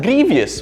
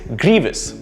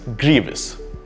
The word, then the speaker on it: grievous: to pronounce this is grievous it's a grievous mistake to mispronounce this word right so two syllables and the first syllable is where the stress is grievous great let's look at